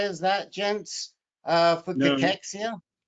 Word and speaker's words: cachexia: you since 60 of us will get uh pachexia why not uh talk about it i mean